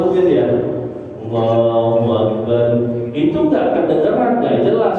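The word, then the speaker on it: الله أكبر: kadang-kadang tepesernya di sini dia menambahkan huruf wau bukan niat menambahkan karena dia malas buka mulut untuk mengucap Hamzah maka yang terjadi adalah dia mengucapkan wau sebagai ganti daripada Hamzah yang dia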